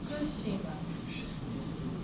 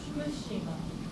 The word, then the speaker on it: Fukushima: So it's and there is a pitch fall after fu. Fukushima. Fukushima.